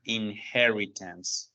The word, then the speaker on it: inheritance: Quiero que tengamos en cuenta la pronunciación que suena con in-he, como con J, inheritance. ¿Listo? Esa es la pronunciación, inheritance.